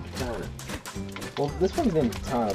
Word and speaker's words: Katana: Is that how you pronounce her name? Katina? No, it's an A. It's gotta be Katana.